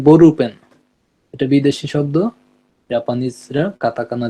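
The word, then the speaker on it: ボールペン: Ball peen কে Japan উচ্চারণ করে বরুপেন।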